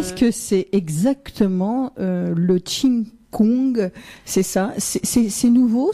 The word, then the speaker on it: qi: entre en fait le tchi veut dire qu'ils ce qui s'écrit qi mais qui se prononce çi veut dire énergie souffle